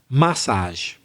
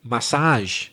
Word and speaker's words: massage: to the pronunciation and there's two ways of doing the stress that's ill emphasis i noticed that craig said massage fine you can also say massage if you want that's true they're both